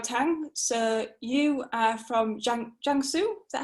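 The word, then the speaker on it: Jiangsu: on to xiao tang so you are from jungsoo is that how you say it yeah yeah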